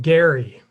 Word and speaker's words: Gerry: Elbridge's last name is pronounced Gerry. Everyone try it out on your own with a hard G.